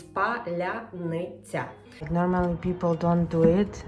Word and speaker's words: паляниця: What I'm going to cook, very special and symbolic type of bread, which is called паляниця. If you can pronounce this word, that means you are true Ukrainian.